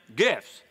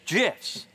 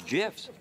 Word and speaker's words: GIF: on gifs pardon me yeah Jess you say gifts it's an acronym acronyms pronunciation is determined by the creator of the